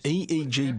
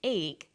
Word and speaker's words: EEG: an acronym or an EEG brain scan helps answer that say the Swinburne researchers he says an 88 g that's an abbreviation we don't pronounce it egg we say aeg aeg